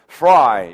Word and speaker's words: fry: 이게 이제 우리말에 프라이 한다. 그죠? 프라이 한다. 뭐라고 말해도 이 말인데 이게 첫 발음이 f예요. 그죠? F. 자, 사전에 소리를 밀고 나가다가 발음을 하는 게 좋습니다. 갑자기 있다가 fry 하는 것보다는 밀다가 터트리는 게 좋아요.